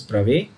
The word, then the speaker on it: Bravais: and these are called Bravais lattices. ठीक है? I know some people call it Bravais lattice and all that, whatever. It's a French word. It's pronounced as Bravais.